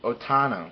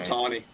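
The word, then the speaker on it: Ohtani: But close second is Show Otano, I think is how you pronounce his name. Otani.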